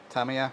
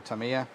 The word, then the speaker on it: Tamiya: of this oh here we go this is Tamiya or Tamiya however you want to pronounce it but and this is uh this